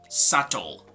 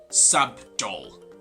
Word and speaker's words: subtle: english we say sato so the letter b is not going to be pronounced so this is not sub dol with the letter b but rather subtle more subtle omitting the